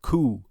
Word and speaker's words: coup: These tasks were called Coup, which is spelled C O U P.